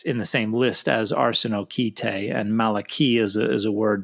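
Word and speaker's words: ἀρσενοκοῖται: Yeah, arsenokoitai, or according to the Erasmian pronunciation, arsenokoitai, it seems like a neologism.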